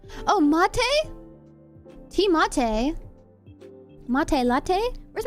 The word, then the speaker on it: mate: No, the teammate pronounced like latte. Oh, mate.